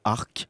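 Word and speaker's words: Arques: savoir que l'entreprise est tout simplement localisée à Arc, d'où le nom. Alors, ça ne s'écrit pas pareil, hein, A-R-Q-U-E-S.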